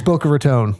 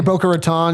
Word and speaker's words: Boca Raton: It's Boca Raton. Okay. If you say Boca Raton, you get hit upside the head.